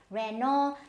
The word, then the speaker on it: Renault: Then we have Renault. Now again, this T is of no use, so it is Renault.